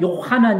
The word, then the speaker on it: 요하난: 그러니까 아 요하난 이제 원래 이스라엘 발언은 요하난 있데 이것이 이제 요한이라 요한으로 이제 바뀌어졌고 아이라고 하는 이름의 뜻은